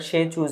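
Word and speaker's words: Tsechu: হ্যা ধর্মীয় উৎসবকে আমরা সে চুজ দেখেছিলাম সে চুজ বলা হয় তাই না এইযে main রিলিজিস festival in Bhutan is called সেচু এখানে টিটা থাকবে টি এর উচ্চারণটা হবে না আর কি সেখানে এটাকে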